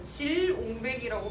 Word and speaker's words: 질옹배기: 자, 길옹배기가 뭐냐면 옛날 말들은 국유음화를 안 써. 그러니까 지금은 저걸 질옹배기라고 발음합니다.